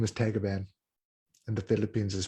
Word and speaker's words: Tagaban: And my last name is Tagaban. In the Philippines is pronounced Tagaban.